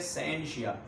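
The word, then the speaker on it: scientia: इसको अगर प्रोनाउंस किया जाए तो इसको कहते हैं साइंशिया।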